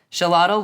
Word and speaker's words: Xolotl: be the Aztec god of fire and lightning shalot and I did have to look up the pronunciation for that but Shalott was viewed as a being that defies death